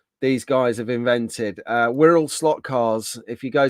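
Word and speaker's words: Wirral: little things that these guys have invented uh WHL slot cars if you go to WHL WHL which is spelled w i r r a l the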